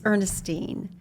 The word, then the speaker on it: Ernestine: want to say because everyone always gets my name wrong it's Ernestine Ernestine and you try to